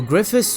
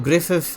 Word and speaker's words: Griffith: his dragon slayer so griffi or Griffith however you want to pronounce it like GS miora